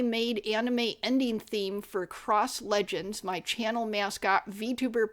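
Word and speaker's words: Xross: It's spelled X Ross, but it's pronounced Cross.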